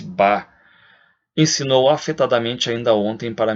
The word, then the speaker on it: Bach: Pronuncia-se Bach.